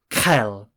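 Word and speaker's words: Qel: with a small q so doctor is Kel Kel imagine that the Queen's personal doctor couldn't care less about her health Kel so how do you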